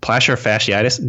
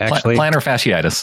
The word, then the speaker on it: plantar fasciitis: yeah yeah he dealt with placer fan Platt placer fasciitis does anyone know how to say that plantar fasciitis classic planner okay show off hi so I